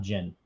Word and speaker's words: Ginn: from kindergarten you know you pronounce it again gin is pronounced gin with two with one n so